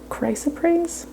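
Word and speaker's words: chrysoprase: show you this stone this is called chris appraise although i heard that some people pronounce it christ appraise but i'm gonna go with chris appraise i like that this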